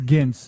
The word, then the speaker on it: Gints: I have no idea how to pronounce the filmmaker's name. Gints Zilbalodis. Yeah, it's Gints. I do know Gints. it's Gints.